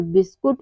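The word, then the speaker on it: biscuit: पर you silent है यानी कि यू के बाद अगर कोई भी वावेल्स आए ए ई आई ओ यू आए तो हमारा क्या होता है हमारा यू साइलेंट होता है यानी कि के बाद कोई भी वावेल्स आए तो हमारा यू वहां पर साइलेंट होता है अगला है लेटर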